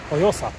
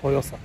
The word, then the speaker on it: Joiosa: Joyosa, o, tak się wymawia, Joyosa.